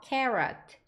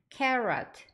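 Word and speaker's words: carrot: 아이 두 개가 왔으니까 자음이 두 번 오면 한 번만 발음해 주시면 되죠 그래서 R 발음해 주시면서 티는 어 해 주시면 돼요 그래서 carot carot 약간 제가 한국 발음으로는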